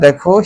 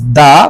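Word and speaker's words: the: example দিয়ে তোমাদেরকে বুঝাচ্ছি কিভাবে কম্পারেটিভ করতে হয় দেখো হি ইজ দা best টিচার হি ইজ দা best টিচার ইন our school তোমাদের প্রিয় শিক্ষার্থীরা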